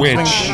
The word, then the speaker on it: wicz: Witch or wits? I heard you correcting somebody down the line. I'm witch. Witch. You do pronounce it witch.